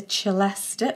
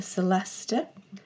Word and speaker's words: celesta: so here we have the chalesta or the celesta i've heard it pronounced both ways i'm not entirely sure